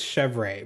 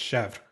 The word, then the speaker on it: Chevre: to say her name I think it's chevre but like I learned the French way which is just Chef I think that's how